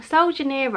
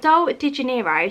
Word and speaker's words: Sol de Janeiro: Sol Janeiro, I think it's Sol Janeiro. Sol de Janeiro, so obviously it's like Rio de Janeiro.